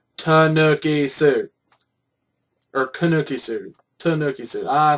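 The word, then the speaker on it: Tanooki: Warrior tanoki said Tanuki suit or kanuki suit Tanuki suit I said it was a t uh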